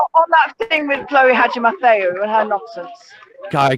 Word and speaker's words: Hadjimatheou: Not that it really matters, Steve, but let's have a little pronunciation lesson on Chloe Hadjimatheou's name.